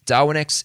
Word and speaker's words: Darwinex: Just to spell that out for you, DarwinX is spelled DARWINEX.